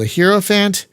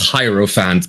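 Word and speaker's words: Hierophant: new class that's the hell is it called a hero Fant whatever the hell that is uh but it's great it's it's really delightful really fun it's supposedly pronounced hyro Fant but hant okay I I'll take your word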